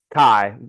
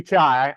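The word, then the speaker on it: chi: calculate this what's missing Kai I know it seems like it should be chai I gotcha it's spelled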